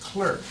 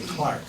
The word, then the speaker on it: Clerk: James Clark Maxwell uh it's spelled c r k that's the way it's spelled James clerk but the British don't say that they say Clark James Clark Maxwell uh